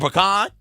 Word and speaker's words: pecan: You can get them in chocolate chip, blueberry, or pecan, or pecan. Pecan is how we're going to say that word, because I think that's how you it's the proper way to say it, yeah.